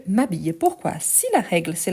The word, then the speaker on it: m'habille: a le S apostrophe donc je m'habille on ne dit pas je me habille mais je m'habille pourquoi si la règle